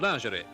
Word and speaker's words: lingerie: In these modern times, bathing suits also have become a bare necessity in any display of lingerie. Lingerie. Note that it's very common to pronounce this as lingerie.